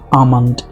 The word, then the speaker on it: almond: on the next Delhi almond. ये देखिए, इसे एल दिखता है तो स्टूडेंट लोग इसे आलमंड या एलमंड इस तरह से पढ़ते हैं, जबकि ये एल साइलेंट है।